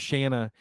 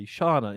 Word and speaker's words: Shanna: Her name was Shanna, and I can never I always say Shauna, and we're like, so